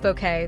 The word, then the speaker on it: Bucket: But it was keeping up appearances from 1990 to 1995 that immortalized her as highest and bucket pronounced bouquet the snobbish suburbanite whose pretensions and pratt falls drew up to 13 million viewers earning BAFTA nods in 1992 and 1993.